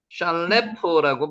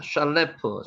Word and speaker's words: 샬레프: 알모닷 아르모다르드 셀프 샬레프라고 발음이 됩니다. 샬레프 샬레프 발음이 되십니까? 샤아 발음이죠. 샬레프.